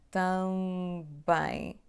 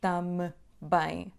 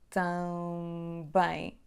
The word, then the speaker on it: também: Então, também. Não dizemos tam bem. Há só um som bilabial aqui, que é B. Também.